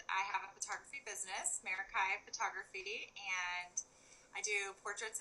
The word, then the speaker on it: Meraki: about this for a while and I was pronouncing it correct it is meraki photography but tell us where where that came